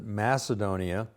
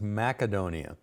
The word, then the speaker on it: Macedonia: the rise of Macedonia now most of us pronounce it Macedonia but uh I found that when I was in Greece that they pronounced the Seas with a hard sea so it's Macedonia in fact I've discovered that not only in